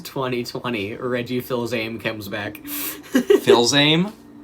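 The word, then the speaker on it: Fils-Aimé: Phil's aim? Fizame? Yeah, there it is. That's how you pronounce it.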